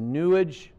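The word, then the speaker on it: New Age: crowley pushed it the new äj-- pushes it new it rhymes with sewage so they push it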